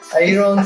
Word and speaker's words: iron: Iron factory, country fellow. What is wrong in pronouncing iron? Iron is not pronounced as iron. R is silent in that.